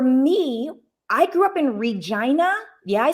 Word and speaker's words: Regina: and so for me i grew up in regina yeah i said it right regina saskatchewan canada right i'm a canadian look right